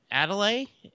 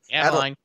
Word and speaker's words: Adeline: I think that Adelaide, is I say it right? Adeline, yeah.